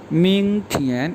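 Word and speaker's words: 明天: मिंग थियन, MING second tone और TIAN, मिंग थियन।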